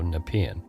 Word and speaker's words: Nepean: Now I know how to say Nepean, because I have been mispronouncing it every time I've had to say it on the show. So Nepean.